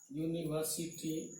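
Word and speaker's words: university: ये है इसका यूनिट, यूनिवर्सिटी, यू आया। आप देख सकते हैं कि ये कॉन्सोनेंट साउंड है, इसलिए क्या हो गया अ यूनिवर्सिटी, और ये क्या हो जाएगा एन अर्न।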